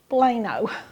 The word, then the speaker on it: poblano: hardest part about this recipe for me was pronouncing the name of the pepper it was p-o-b-l-a-n-o plano but anyway um it is delicious so we're